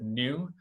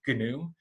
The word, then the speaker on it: GNU: the computer programming world we pronounce this gnu with a hard g and so one of